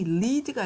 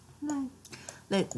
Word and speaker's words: lead: 이런 말이고 이거는 발음이 lead가 아니고 lead는 있어. 뭐야? 이끌다라는 뜻이 있지만 이건 lead예요. 이거가 lead. lead.